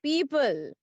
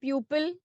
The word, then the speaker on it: people: So the correct correct pronunciation is people, not pupil, ma'am not मैंने बोला pupil, था ma'am 2 number मिलेगा ना?